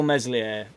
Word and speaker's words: Meslier: he told me so it's still meslier apparently with the silent s but speaking of meslier